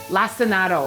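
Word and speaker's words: lacinato: We learned in a previous episode how to say this lassinado.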